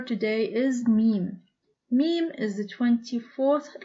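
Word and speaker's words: ميم: position in an android meme is similar to the me of man and with a harikat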